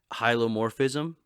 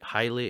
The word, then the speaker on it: hylomorphism: called hylomorphic dualism so hylomorphism highly um is how you say it highly or yeah i think highly in morphe so uh